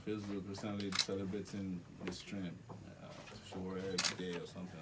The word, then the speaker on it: Sowore: How do you pronounce Sowore? Sowore.